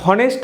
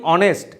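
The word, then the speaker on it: honest: এইচ অনুচ্চারিত এইচ অ্যান অনেস্ট ম্যান এখানে আমরা হনেস্ট উচ্চারণ করি না কি উচ্চারণ করি অনেস্ট এইচ সাইলেন্ট থাকছে এইচ অনুচ্চারিত থাকছে একজন সৎ ব্যক্তি সেক্ষেত্রে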